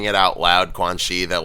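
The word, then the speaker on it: Quanxi: be quan chi versus quan shi i think i think she is like x i that that is pronounced she not not yeah c because her her character is chinese yeah i think i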